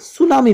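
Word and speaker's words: tsunami: बहुत कम वर्ड्स हैं जैसे सुनामी सुनामी तो टी से स्टार्ट होता है लेकिन यहां पर साइलेंट है और हम इसे सुनामी पढ़ते हैं क्योंकि यह जापानी वर्ड है जापान से लिया गया है और वहां पर इसे ऐसे ही पढ़ा जाता है इसलिए इंग्लिश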